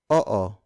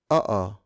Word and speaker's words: oo: The Tagalog word for yes is oo. Oo. Oo. It's spelled as O-O. Notice that in Tagalog words with double vowels like oo, we pronounce the vowels separately.